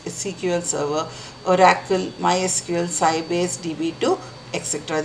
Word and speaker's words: SQL Server: SQL Server cql server it is pronounced as cql server Oracle MySQL cbas db2